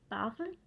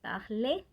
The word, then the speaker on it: parle: Entonces, je sí se pronuncia, pero je parle no es parler, sino parle, ¿ok?